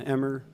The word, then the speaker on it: Emmer: If you're just tuning in, my name is Emmer. Emmer is spelled E-M-M-E-R, like the wheat.